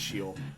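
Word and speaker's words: Sheol: she'll and that's uh I've heard people pronounce it show but I believe that correct hebrew pronunciation is shield i could be mistaken them and we still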